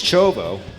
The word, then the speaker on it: Chovo: I've heard a lot of you know, people pronouncing his name differently. I've heard Ciovo, I heard it's Chovo. We're going with that from Danny himself, his teammate.